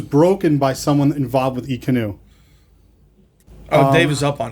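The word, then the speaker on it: Ekanoo: E-Canoe. Oh, E-Canoe, is that how you pronounce it?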